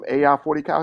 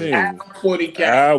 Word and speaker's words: Al 40 Cal: So it's like, yo, why you ain't giving AI 40 Cal his props though from yesterday? It's Al 40 Cal. Why you keep saying you the one not giving it props? You saying his name wrong?